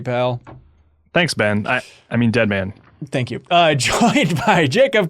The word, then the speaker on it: Dead Man: Romeo is a dead man, which is how we're going to be pronouncing that from now to the end of time. It's actually Deadman.